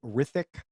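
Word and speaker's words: Hrithik: I don't know how to pronounce this, so I think the H is silent. Rithik Roshan, I hope I'm saying that right.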